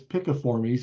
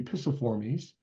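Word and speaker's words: Piciformes: And then the next one down is, now I like to call this Picaformes because it sounds more like a woodpecker pecking, but another pronunciation could be Pisciformes.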